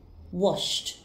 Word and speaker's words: washed: pronounced as kissed kissed the verb wash has a sound ending in sh so the e d ending will be pronounced as T washed washed the verb watch